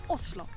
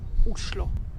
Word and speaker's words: Oslo: number 11 visit only oslo the capital of novi and actually in norwegian the right way to pronounce the name of the capital is uslo oslo is a great